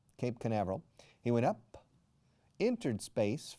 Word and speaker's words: Cape Canaveral: He simply went up from Cabo Cañaveral, Cape Canaveral. Fijaos cómo se pronuncia. Cape Canaveral. Se escribe Cañaveral o Canaveral, pero se pronuncia Canaveral, Cape Canaveral.